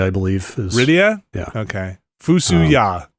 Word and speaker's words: Fusoya: Cecil is the canonical pronunciation. Rydia? Fuck that. Rydia? Rydia, I believe. Rydia? Yeah. Okay. Fusuya. Fusoya.